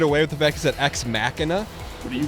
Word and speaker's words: Ex Machina: It's not ex machina. Nick Here Nick's the decider. Nick, how do you say it? Like mach one, mach two. Yeah, but I mean it's not spelled like mach one or mach two. That is kind of No, it has an i n a at the end.